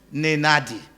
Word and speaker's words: Nenadi: Nenadi. Okay, I have to use my nose to speak here because you can't enunciate her name if you have to use your other speech organs except you try to be nasal.